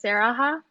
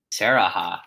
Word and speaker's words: Sarahah: So my name is Sarah, but my nickname is Sarahah, so that's how you say it. Sarahah.